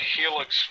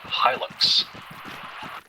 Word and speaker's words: Hilux: I think you'll find it is in fact pronounced Hilux.